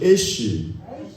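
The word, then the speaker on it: אש: 여기다가 하나님의 알레프를 붙이면은 애시, 다시 애쉬. 영어의 제죠, 제 애쉬. 같은 발음이에요.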